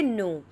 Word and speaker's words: know: For example बता देते, जैसे कि नो, KNOW। अब इसमें के जो है वो साइलेंट है।